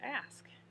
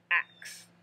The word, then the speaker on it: ask: ways you want to say the term ask and not ax you know it's just